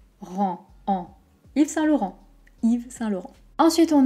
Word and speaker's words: Yves Saint Laurent: y es ensuite on a attention trois mots yves saint laurent if i ve il on s'arrête comme si